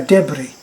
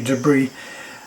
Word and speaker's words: debris: to play on which we would call a debris they realize now that word is incorrectly pronounced it should be debris and they would that's what would be left